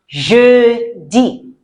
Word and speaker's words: jeudi: Next one is jeudi. Jeudi. Jeudi. Right. Je. And E before the D. Jeudi. It's not J-D. Please, please, please don't say J-D. You make me sad. It's jeudi.